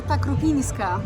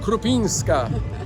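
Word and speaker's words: Krupińska: they read it krupinska krupinska there is an accent over the anend there is I've forgotten about it but yes it's there ah so there we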